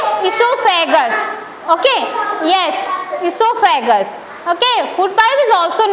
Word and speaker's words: esophagus: Okay, yes, esophagus. Okay, food pipe is also known as what? Esophagus. What is the pronunciation?